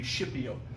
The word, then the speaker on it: Scipio: named lucius not scorpio schipio which it sounds like s-h-i-p but it's actually s-c-i-p i don't know how to be pronounced today but back in latin it would be shipyou lucius scipio is a